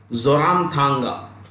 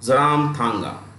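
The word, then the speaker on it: Zoramthanga: know is isol and the chief Ministry is zoram Tanga zoram Tanga z o r a m t h a n g a zaram Tanga okay Manipur manipur's capital is inal and the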